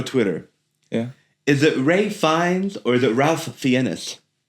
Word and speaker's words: Fiennes: I know it looks like FIENESS, and they're calling him Ray Fiennes, and that's not how it's spelled. Yeah, so that's Ralph Fiennes. Yes. So Ray Fiennes is RAYFINES. Rafe is kind of like the posh way of saying Ralph.